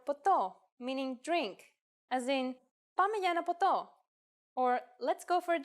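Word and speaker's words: ποτό: How about the word PTO, meaning drink, as in Poto or let's go for a drink.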